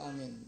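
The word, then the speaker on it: آمين: Takhfif artinya diringankan, jangan ditasdidin. Tasdidin apa? Mimnya. Ya, amin, amin. Jangan ditasdidin mimnya. Ya, takhfif itu mimnya enggak amin. Kemudian dipanjangin. Apa yang dipanjangin? A-nya panjang, mimnya jangan ditasdidin.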